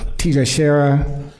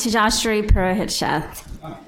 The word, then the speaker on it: Tejashri Purohit-Sheth: I'll start off with okay teacher Shara it's actually pronounced to josh reaper ahead chef so thank you for